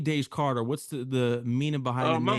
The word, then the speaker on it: Daze Karter: you get how did you get your name da Carter what's the meaning behind my mom my mom